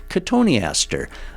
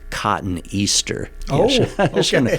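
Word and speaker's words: Cotoneaster: or purplish red color katoniaster uh you know it's interesting someday you know when we talk about these names katoni Aster looks like it should be cotton Easter you know the spelling yeah sometimes I'll get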